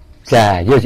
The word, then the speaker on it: Djajus: Itu nama saya yang asli itu ya Jayus itu ya, Jayus, cuman itu. Dengan ejaan lama itu ya?